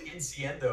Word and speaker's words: Incendio: It's Incendio. And I'm like, it's Incendio. It has the I before the O and after the D.